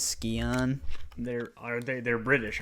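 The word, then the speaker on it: Scion: I mean that's that's like s c i o n like you normally pronounce that Sion but for some reason everybody in the game pronounce it as skon they're are they they're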